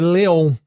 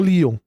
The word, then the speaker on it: Leon: Então, por exemplo, facilmente um dublador pode ler Leon, sim, e não Lon.